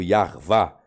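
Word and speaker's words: Yahweh: Aí coloque o de Revavirreu, Yarvá, seria a pronúncia mais adequada para o tetragrama.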